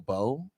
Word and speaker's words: Beau: But came from, I guess back in the day, if that was your bae, you would call them your beau.